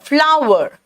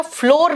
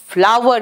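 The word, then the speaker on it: flour: Shift और सीव द फ्लावर। बेटा फ्लोर नहीं कहना इसको, ये फ्लोर नहीं होता है, इसका उच्चारण वही है जो फ्लावर यानी फूल का उच्चारण है, ठीक है।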